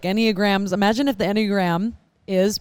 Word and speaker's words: Enneagram: And how do you say Enneagram.